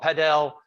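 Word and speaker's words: padel: called well it's called pedel that's what they pronounce it here but it's called paddle in europe but it's a similar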